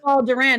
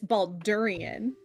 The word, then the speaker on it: Baldurian: No, it's not Balderan, it's Baldurian.